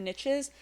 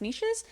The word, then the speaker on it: niches: mind, as they say, the riches are in the niches, although the word is actually pronounced niches.